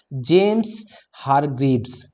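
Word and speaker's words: James Hargreaves: इसको पढ़ा कैसे जाएगा? जेम्स हारग्रीव्स, right, जेम्स हारग्रीव्स, जेम्स हारग्रीव्स। मैं 3 बार बोल दिया हूं, उच्चारण आप कर लीजिएगा।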